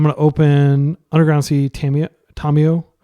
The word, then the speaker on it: Tamiyo: I'll use the Japanese pronunciation since people are always giving me a hard time about my pronunciation of Fairy Macabre, which is how you pronounce it in French. Macabre, I think. But at the same time, like as a Japanese speaker, I should be actually pronouncing Tamiyo correctly instead of just how I hear everybody else say it.